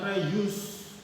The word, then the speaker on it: reuse: Terus reuse ya, bacanya reuse.